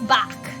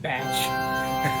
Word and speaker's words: Bach: They used to call me Little Miss Bach. Oh, that's cute. I hate the fact that my American brain was about to pronounce that batch.